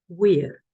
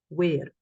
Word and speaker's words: vir: So if you are doing classical Latin, probably you will, classical Latin pronunciation, probably you would say something like wir instead of vir. Yes, and that is the pronunciation I normally use. So it's Julius, vir, doctus, domus, and via.